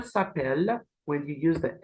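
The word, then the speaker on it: s'appellent: we have have e sapel which is they are called and the ENT here is silent and here we have El sapel with a silent ENT as well the both of them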